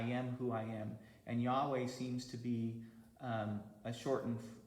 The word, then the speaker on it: Yahweh: their God as, and probably the way that you would pronounce it is something like Yahweh.